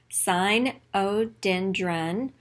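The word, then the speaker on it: Sinodendron: name is cynodendron rugosum you pronounce it this way sign o dendron rue go sum cyno rhymes with rhino too he looks a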